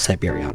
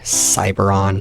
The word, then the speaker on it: siberon: you know how my name is siberon right well whenever I play any online game all anyone can ever manage to call me is either cyberon Cybertron or just cyborg I mean you can